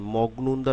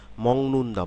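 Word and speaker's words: 먹는다: গ এর উচ্চারণ অনস্বর অর্থাৎ মগনুন্দা না বলে আমরা কি বলি মং মংনুন্দা মংনুন্দা মগনুন্দা ঠিক একইভাবে এটা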